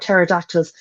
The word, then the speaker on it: pterodactyls: I really want to know more about pterodactyls. Never knew it was started with a silent P.